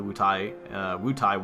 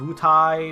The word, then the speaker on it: Wutai: Not sure if it's pronounced Wutai or Wutai. I always said Wutai when I was a kid for some reason. Like I pronounced the A and the I as different syllables.